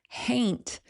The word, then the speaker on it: haint: Haint is a regional pronunciation, basically, of the word haunt.